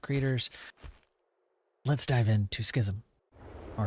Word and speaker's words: Schism: I'm going to say schism. There's an E at the end. I don't think it's schisme.